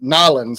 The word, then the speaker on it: New Orleans: So we get to hear about some of his adventures in, I guess, Nolans, I should say, right? And how they say it down there.